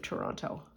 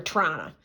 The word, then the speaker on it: Toronto: in the city of Toronto or Toronto if you want to be if you want to sound native don't pronounce the second t that's my for you